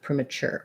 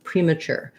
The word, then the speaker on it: premature: to know premature um premature has the stress on chur and that sounds like a ch sound and an ur sure premature premature um we have a